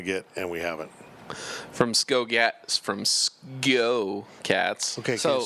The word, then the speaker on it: SGO Cats: A lot of people say Sco Cats, SKO Cats, because when you're saying let's go real fast, it's Sco. But this is SGO Cats.